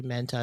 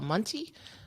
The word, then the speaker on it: Manti: No, I thought Manti too, but then I heard the parents say his name, and I was like, oh, it's Manti.